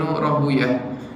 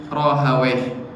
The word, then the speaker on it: Rahawayh: Kalau kita ikut madhab muhaddisin, maka kita membacanya adalah Ishaq bin Rahuyah. Kalau kita membaca dengan madhabnya adalah Al-Lughawiyin, maka kita membacanya Ishaq bin Rahawayh, menggunakan ha, bukan menggunakan ta.